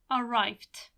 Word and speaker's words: arrive: you add s here arrived arrived arrive finishes again in E that you don't hear but you write it and what you need